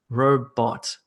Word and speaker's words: robot: a two syllable word like robot robot robot the emphasis is on the first syllable and you might have